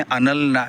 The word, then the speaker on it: Anal: हूँ, जिसका नाम था अनल, ANAL, same spelling as एनल, लेकिन गुजराती में अनल एक नाम है, इट्स अ गर्ल्स नेम।